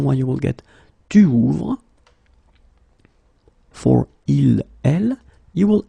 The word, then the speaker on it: ouvre: And that's the reason why you will get tu ouvres. For il, elle, you will add e, ouvre. Okay, so basically you get the same phonetical form here. Okay, it's the same pronunciation, but you should write it ouvre, es, ouvre, e.